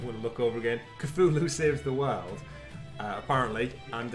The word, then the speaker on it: Cthulhu: So I'm going to say, how did you pronounce the proper word, Richie? Jokes aside. Cthulhu.